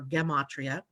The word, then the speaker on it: gematria: Hebrew numerology which is also called gematria I think it is how you say it or get MOT Rhea is the number of